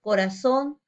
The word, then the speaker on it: corazón: Ejemplos, corazón, anís. Vemos que la mayor fuerza de voz está en la última sílaba, son y nis.